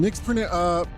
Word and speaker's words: Nix: This thing, Nick's pronounced sounds like nichts in German and nothing, which is fitting because there's nix in nix.